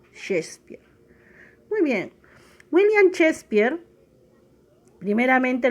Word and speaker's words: Shakespeare: destaca es william shakespeare como verás ahí se escribe que espiar pero se pronuncia shakespeare muy bien william shakespeare